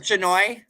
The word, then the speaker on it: Shanoy: Is it Shanoy? It is Shanoy. Shanoy. Because you know how I remembered it, and just like because I thought of Hanoi and the Vietnam city, so it rhymes with.